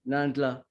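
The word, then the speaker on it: Nahlan: And Nandla, how do you say that? N-A-H-L-A-N, Nandla.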